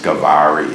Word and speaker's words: Gavari: like academics in Delhi they'll say it's not GA it's gavari it's the gavari something like gari but nobody locally says that okay they will either say gav or gri and the most common pronunciation is G so I decided to go with what the villagers themselves say the villagers themselves gener say G dance g g you know